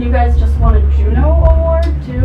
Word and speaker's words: Juno: And you guys just won a Juno Award too? It's pronounced Juno. Oh, Juno, sorry. No, it's actually pronounced Juno.